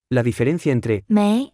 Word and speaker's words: 没: 有，有，没，没，有没有？有没有？有没有？有没有？没， Se pronuncia con el segundo tono.